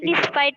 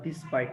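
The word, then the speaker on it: despite: দো থাকে ইন ডিসপাইট অফ ডিসপাইট থাকে। আচ্ছা, উচ্চারণটা সুন্দর করে করবা, ডিসপাইট না ডেসপাইট।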